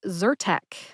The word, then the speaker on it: Zyrtec: brand name which is zertek zer Tech has two syllables Zur like purr which is the sound a happy cat makes purr and Tech which